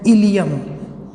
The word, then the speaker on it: ileum: ये टर्म भी आता, ILE की जगह IUM, ये भी इलियम, दोनों को इलियम ही पढ़ा जाता है। ये इलियम कहाँ का पार्ट है? इट इज़ the part of small intestine. Okay, और इलियम इट इज़ the part of bone.